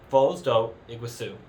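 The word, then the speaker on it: Foz do Iguaçu: to a place called Falls do Iguazu. Falls do Iguazu. Yeah, that's the Brazilian pronunciation.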